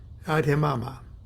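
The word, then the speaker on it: Abhidhamma: h i d h a m m a Ade mama that of the adamama is on the surface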